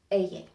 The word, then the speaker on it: ella: The double L always sounds like the Y in ya. Ella.